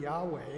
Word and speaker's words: Yahweh: last few years said we don't think it was ever pronounced Jehovah Yahweh or something like that but it's interesting in